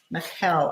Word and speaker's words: Michal: Michal, I believe is how you say it.